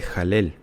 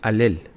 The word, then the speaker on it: Halel: Eh, y mucha gente erróneamente dice jalel. No es jalel, es alel. Alel.